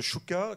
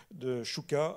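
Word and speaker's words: Szczuka: La mise en page de Szuka, qui était comment Stuka, alors bon, mais ça s'écrit SCZSZ, donc il faut pouvoir suivre, hein, UKA, Szuka, donc Stuka, ça se prononce, c'est ça, Stuka, pardon, donc qui développait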